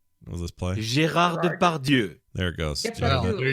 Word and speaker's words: Depardieu: Depardieu? Depardieu. Yeah. Depardieu is pretty close.